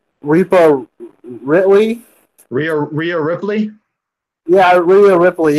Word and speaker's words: Rhea Ripley: Rhea Ripley.